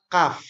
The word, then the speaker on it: kaf: Nah, karena banyak sekali huruf-huruf yang kalau kita tidak tahu cara membacanya maka akan hampir sama. Contoh yang pertama, ada qaf, ada kaf.